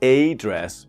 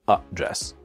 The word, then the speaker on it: address: in the software but the first syllable is not a dress but it's a dress to a dress bugs and issues not a dress but up dress for example my biggest